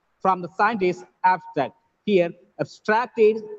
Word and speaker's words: abstract: for the study is abstracted from the scientist abstract here abstracted is the word work it gets stressed on the second syllable and abstract is a noun it gets stressed on the first syllable clear i hope everything